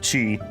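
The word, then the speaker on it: qi: And the reason literally is I I mostly used to consume Japanese media and in Japanese it's key instead of chi.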